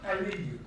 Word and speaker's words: Aliyu: Aliyu. Have I pronounced the last name correctly? Perfectly.